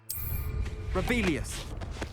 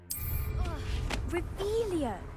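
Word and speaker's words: Revelio: Rebellious. You're saying it wrong. Revelia.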